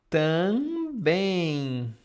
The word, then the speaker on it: também: Também, também, também. Like ing in English.